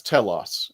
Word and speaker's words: Telos: I said it right no it's Telos it's the if it